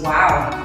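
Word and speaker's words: Wau: malaysian its wings are similar to an arabic letter pronounced wow this kite making tradition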